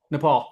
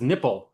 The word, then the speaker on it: Nepal: Nepal. Oh, Nepal. Um or as as President Trump in his first term referred to it as nipple. He did not he truly pronounced it nipple.